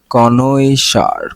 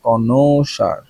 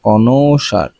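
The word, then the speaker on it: connoisseur: খুবই কঠিন একটা বানান কনই সার কনসার কনসার কনসার উচ্চারণ হল কনসার ঠিক আছে এর উচ্চারণটা হল কি কনসার কনইসার না কনসার এর উচ্চারণটা হল কনসার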